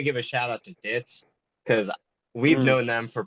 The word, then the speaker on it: Ditz: So Ditz, DITZ. Yes. Yeah, Yes. don't misspell it.